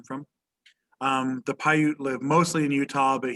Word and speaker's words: Paiute: gentleman with the hat so welvoca is a paiute indian he's a paiute from nevada um paiute is spelled p-a-i-u-t-e paiute p-a-i-u-t-e he's a paiute indian